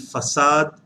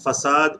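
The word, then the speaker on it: façade: that is called as faked in english and facade in french and the pronunciation of facade is same as facade we have sausage that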